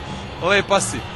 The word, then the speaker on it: lepa si: Lepa si.